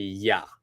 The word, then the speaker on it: you: I've changed it to ya. All right, so I've changed the you and I've changed it to ya. All right, so what are ya doing? That would be a better pronunciation.